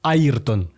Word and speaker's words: Ayrton: En Angleterre, au début, le journaliste l'appelait Ayrton, qui est la prononciation en portugais. Tout à fait. Sauf que le journaliste a subi des critiques parce qu'on ne comprenait pas pourquoi au Royaume-Uni on ne l'appelait pas Ayrton mais Ayrton.